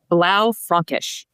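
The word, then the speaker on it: Blaufränkisch: I'm going to pick one that we produce because it's not really easy to pronounce, though it is one of the most popular in our portfolio. It's called Blau Francish.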